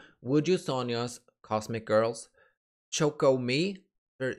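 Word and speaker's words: 우주소녀: wjsn for some reason i like to say yjsn i don't know why it just sounds better to me but instead i've learned to say would you sonia because that's how you say it in korean and i don't really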